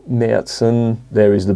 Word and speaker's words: Märzen: The two umlauts over the A make it so as it's pronounced Märzen.